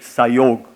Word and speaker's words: Psiog: So we have made it Psiog. So Psiog, Sam Yoga becomes Psiog. I also understand in Sanskritam when you do Sandhi, Sam Yoga becomes Psiog when you pronounce, and Hindi also is Psiog, I'm told.